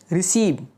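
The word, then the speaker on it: receive: सबसे पहला वर्ड है रिसीव, प्राप्त करना। यहाँ सी के बाद ई है, मैंने इसे स की आवाज़ में पढ़ा।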